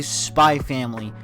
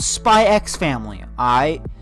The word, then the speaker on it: Spy x Family: I'm going to say Spy Family, not Spy X Family.